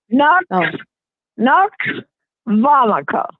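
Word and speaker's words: Nux vomica: as in Charlie um CA a CA vomica no vomica right KNX vomica okay okay well thank you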